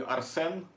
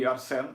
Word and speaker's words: Arsène: Then also to pronounce it, it's gonna be Arsen Kazaryan.